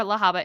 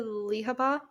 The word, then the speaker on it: Lahava: My love for Lahava is so real. You know, the So, first time I read it, I pronounced it, I think it was, I think I said Lihaba, just because I knew her nickname yeah.